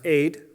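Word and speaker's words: עד: like an a and a d sound are pronounced aid and it is a word that means a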